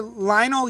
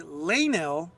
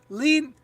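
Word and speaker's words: Leinil: Lusany, usually Lanil, but Americans usually pronounce it as Lenil. Lanil U. So it's Lanil U.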